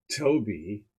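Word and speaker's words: Thoby: Well, what would you expect from someone named Toby, spelled TH but pronounced T?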